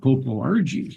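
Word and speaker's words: Popo Agie: 10 years ago but he pronounced at popo Argy and I think that was correct because I uh I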